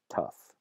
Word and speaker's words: tough: gh is lost completely in other environments and other cases that that fricative is not dropped completely but rather change to a different fricative to an F sound so the middle english